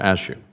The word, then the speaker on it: Ashu: Ashu, am I saying that correctly, Mr. Ashu? It rhymes with cashew. Okay, Mr. Ashu.